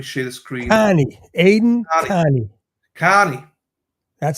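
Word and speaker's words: Kearney: on let me share the screen Carnie Aiden Carie that's how you say it car he knows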